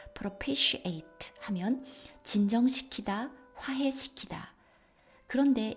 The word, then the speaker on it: propitiate: propitiate, 바로 t가 t로 발음 나는 것이 아니라 sh 발음이 났습니다. propitiate 하면 진정시키다, 화해시키다.